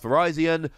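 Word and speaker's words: Virizion: got our first tarakian verizon and kabalyen yes that is how you pronounce verizon no i'm not terribly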